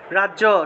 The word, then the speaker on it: রাজ্য: রাজ্য, সংস্কৃত উচ্চারণ হবে রাজিয়া রাজিয়া।